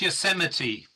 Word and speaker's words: Yosemite: It's pronounced Yosemite. Yosemite. Thank you very much. It's one of those strange American words like Arkansas that you pronounce wrong.